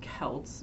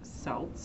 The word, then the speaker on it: Celts: hibernos axons are the Celts so and it's pronounced Kelts not salts I know that in America we have a